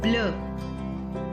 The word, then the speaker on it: bleu: I'll repeat again that these consonants, the S added at the end of the plural form of the adjectives is silent. We will not pronounce this S. That is why the plural form also remains same in pronunciation with the singular form.